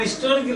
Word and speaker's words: historical: But some people say an historical novel. An historical novel. An historical place. An historical place. Because H is silent.